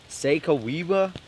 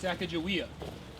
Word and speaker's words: Sacagawea: Can you spell that out? Sasagawea? Sakagawa? Kagawea? Sacagawea? Sakawewa? No, it's Sacagawea.